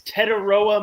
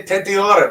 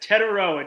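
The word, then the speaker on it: Tetairoa: As you say his name, Steger, it's Tetaroa McMillan. I say Tetiora because it's how the letters spell out. It's Tetaroa, just T-Mac.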